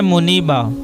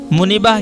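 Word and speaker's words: Muneeba: है बचाव करने वाली जरिया हिफाजत नाम है मुनीबा मुनीबा की मानी अल्लाह की तरफ रुजू करने वाली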